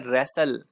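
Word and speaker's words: wrestle: में हम बोलते हैं रैसल इसमें यह जो डब्लू होता यह साइलेंट होता है और इसको पड़ते हैं रसैल अपने रैसलमेनिया का नाम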